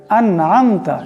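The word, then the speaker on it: أَنْعَمْتَ: আবার যদি কেউ এই ভুলটা করে আন'আমতা এখানে গুণনা করে, কিন্তু আসলে এই নুন সাকিনে গুণনা করা যাবে না, আন'আমতা এমন করে পড়তে হবে।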